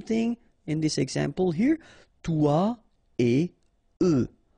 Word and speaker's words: toi et eux: Toi et eux. Alright, so no liaison, even if it's a bit tempting because it would be possible, but then no.